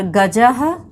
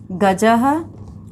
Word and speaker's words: गजः: लोगों ने देखा, और विसर्ग का उच्चारण जो है वो ह की तरह होता है। विसर्ग जो है वो हम लोग देखेंगे, विसर्ग का निशान इस तरह से लगाया जाता है ऐसे करके, और इसका जो है वो ह की तरह इसका उच्चारण होता है, जैसे रामः, रामः, और गजः, गजः, अश्वः।